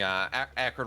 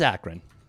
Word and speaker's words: Akron: And we're getting yelled at here because apparently we've been pronouncing Akron wrong this entire time. Oh, it is Akron.